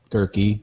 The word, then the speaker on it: Gehrke: The Gehrke rhymes with turkey, which made Thanksgiving hell